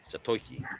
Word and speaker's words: Zatoichi: Zatoishi? I would say that as Zatoiki. Zatoichi. Okay.